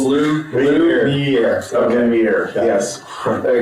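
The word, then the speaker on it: Lumière: You didn't get it right. Lumiere. He was like, I didn't get it right. I know I didn't get it right. It's 3 syllables. 3 syllables, Lumiere.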